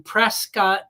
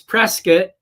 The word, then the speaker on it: Prescott: will all be uh going to Prescott or Prescat. We got to say it like the natives say it. Uh it's Prescat, Arizona and to the uh to Pilot Institute.